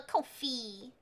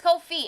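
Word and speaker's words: Ko-fi: say no wait it's Kofi it is Kofi I was saying it right for once it's supposed to be like coffee but Kofi I you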